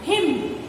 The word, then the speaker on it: hymn: How do we pronounce them? him. N remains silent.